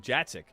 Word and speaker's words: Jacek: But this name, Jacek, is exactly how you pronounce that name based on what he told me earlier today.